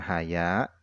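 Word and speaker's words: حياء: malu kepada Allah nah Haya ini cara bacanya adalah Bil Fathi dengan dibaca fathah Wal mdi dan dengan dipanjangkan Alha seperti itu wahua Adapun Haya yang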